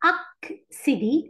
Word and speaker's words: accéder: accéder لما يكون عندي 2 سي. أول واحد نطقنا ك، تاني واحد نطقنا س.